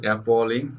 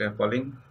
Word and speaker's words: appalling: So the pronunciation is appalling, not appalling. Please remember this.